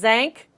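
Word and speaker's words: Tzanck: called as ank but starts with a T but the T is silent as thank smear that will show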